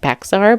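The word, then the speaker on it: Bexar: in Bear County count it's spelled like bear but it's Bear County they were found on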